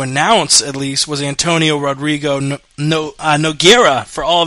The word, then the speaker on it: Rodrigo: you loved calling out first let me correct it because it's brazilian it's actually rodrigo rodrigo pronounce it hr it's like hoist gracie so antonio rodrigo nogueira